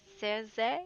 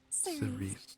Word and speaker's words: Cerise: Hello, Cersei. Am I saying it right? Have I screwed it up? Cerise. Oh, damn it. Cerise. I knew it wasn't Cersei.